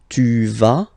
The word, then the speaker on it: tu vas: Basically you pronounce it like for the tu because you don't pronounce the final s. Okay, il va, elle va. Okay, je vais, tu vas, il va, elle va.